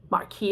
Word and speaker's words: Marquis: So, Marquis it is.